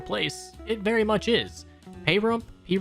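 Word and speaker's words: Pahrump: Payrump, I keep hearing people pronounce it Payrump, so that's what I'm gonna say, is a real city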